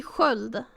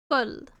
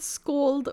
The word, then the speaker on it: sköld: Does SK also make a hissy noise? Yes. Yeah, it does. So SK is right here. So this would be sköld. Sköld. Not scold or however you pronounce it, it would be sköld.